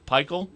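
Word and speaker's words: Pikiell: You don't want to be, I don't know how to pronounce his name, Pikel? Yeah. Is that how you say it? Pikel, yeah.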